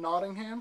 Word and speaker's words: Nottingham: today is December 8th 2011 I'm interviewing Catherine notingham is that right is how you say that